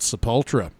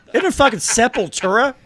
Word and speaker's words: Sepultura: max cavalera project the yes it's a pultra he he left out a syllable isn't it in her Sepultura there she is ah